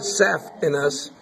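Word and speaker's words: saphenous: this no no this is the sapis we pronounce it saf in us but it's spelled s a p h n o u s sap in us that's a sapin nerve have this huge one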